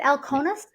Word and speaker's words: Alkonis: I say your last name right is it El conus yes okay I just want to make sure